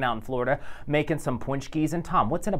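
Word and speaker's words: pączki: It's a punchki. It's a punchki. Catherine chimed in on my Facebook page. She apparently, I think she has ties to our area, but she's hanging out in Florida making some punchkis.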